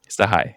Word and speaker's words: Sachaj: So I'm talking to my friend Sahi, and he doesn't spell it Sahi. Sahai, yes.